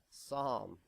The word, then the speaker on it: Psalm: coming your verses from P hey BR it's pronounced oh H Psalm I hope we don't get any letters about